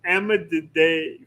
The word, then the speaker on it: Emydidae: part of the turtle family is Emididae family. Emididae? I think that's how you Spell it. pronounce it. It's Emydidae.